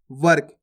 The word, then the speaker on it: वर्क: क्या लिखा हुआ है वर्क यह व आ गया प्लस रेफ की मात्रा आ गई प्लस का इस प्रकार से इसका उच्चारण होता पहले वा का उच्चारण होएगा उसके बाद रेफ की